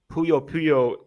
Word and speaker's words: Puyo: Puyo, is it Puyo or Puyo? Puyo. I think it's, yeah, Puyo Well, Puyo is anyway, how I Sega would say bought it.